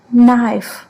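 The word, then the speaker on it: knife: Example में जैसे के एन डब्ल्यू, आप देखते हैं यहाँ पे के का उच्चारण क नहीं किया गया है, अगला लेटर न है और उसके बाद जो वॉवेल लगी है उसकी वजह से उसको हम पढ़ेंगे नी। नाइफ, नो, इन तीनों में आप देखेंगे के को साइलेंट है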